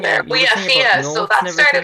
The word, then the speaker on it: Fía: Is it Fia? Yeah. How do you pronounce Fia, it?